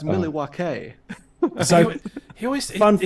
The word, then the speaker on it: Milwaukee: Just It's actually pronounced Milwaukee.